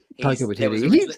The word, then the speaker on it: Taika Waititi: Taika Waititi, the guy who did Jojo Rabbit, is that how you pronounce his name? Yeah, Taika Waititi.